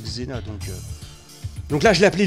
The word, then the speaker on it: Xena: Vous avez vu, j'ai nommé un personnage de la pièce là, G-Z-E-N-A. Donc ça se prononce Xena.